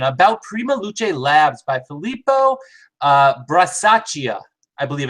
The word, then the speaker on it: Filippo Brasaschia: Tonight's session, a very cool session about Prima Luce Labs by Filippo Brasaschia, I believe it's pronounced.